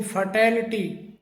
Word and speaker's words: fatality: FATALITY इसे फैटल्टी करके बोला जाता है, जबकि इसका सही जो प्रोनाउंसिएशन है वो फटैलिटी, फटैलिटी करके होता है।